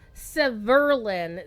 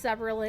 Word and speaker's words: Severlin: His dev name is pronounced Severlin. The emphasis is on the second syllable. But everybody says Severlin, and it's wrong.